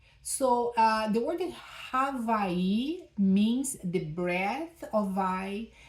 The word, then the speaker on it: Hawaii: Today I want to talk to you about one more hooponopono tool, Havai. And we say that in English as Hawaii, right? So the name Hawaii is pronounced Havai in Hawaiian.